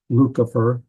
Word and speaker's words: Lucifer: That would be the way it's pronounced in Latin, Lucifer, and it means shining one.